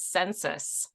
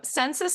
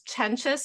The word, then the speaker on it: Csencsits: the last name is census you either ignore the C's or you ignore the s's whichever works for you oh okay well I